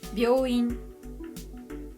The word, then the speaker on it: 病院: For example, 美容院 means beauty salon, but when you make the yo smaller, it's pronounced 病院, and then the meaning becomes hospital, not beauty salon anymore.